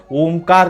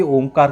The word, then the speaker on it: ओम: अ उ म, इसका जो उच्चारण होता है ना, अ म, अ उ म को थोड़ा सा लंबा खींचना पड़ता है, ठीक है।